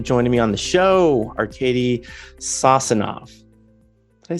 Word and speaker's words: Arcady Sosinov: Arcady Sosinov.